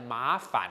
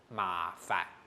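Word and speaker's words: 麻煩: 好，大家太敢哈，填翻音的时间不要念成麻烦哦，千万不可以这样，不要受华语的影响哈，是麻烦。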